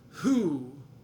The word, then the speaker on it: who: we'll get into that who the w is silent here not the h so that's an interesting